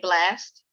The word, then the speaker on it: BLXST: You say his name Blast? Yeah, BLXST.